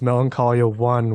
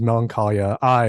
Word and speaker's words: Melancholia I: And also I pronounce it as Melancholia I as an I of the self.